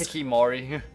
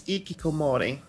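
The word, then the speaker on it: hikikomori: Because you're some sort of ikikimori, or however it's pronounced. Hikimori. Kimori. No, there are more syllables, I think. Western, or the Western equivalent of that, which is called a NEET. N-E-E-T. I could have sworn it was Hikimori just because it. I think it's ikikomori.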